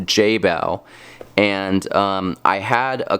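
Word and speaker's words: Jebao: i say that that brand wrong it's actually pronounced jay bao i say jabeo but it's pronounced jay bao and um i had a couple different of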